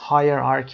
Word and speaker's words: hierarchy: hierarchy استرسش روی قسمت اول هست. higher قسمت اول و چه اینجا هم صدای که میده.